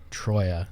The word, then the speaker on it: Troia: Dominic, and how do we pronounce the last name? Because I am really bad at last names. Troia. So we have Dominic Troia here, who is the president of operations of Oakland County Football Club.